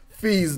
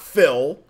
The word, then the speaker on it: Fee: Make sure everybody says Fee's name right. It's Fee, not Phil, not Phil. Not full or Fee. It's Fee. My pronunciation's horrible.